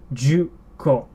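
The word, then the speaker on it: じゅっこ: Juko. So 10 is actually, although you can't really hear it, it's actually like that. There is still a small tsu there.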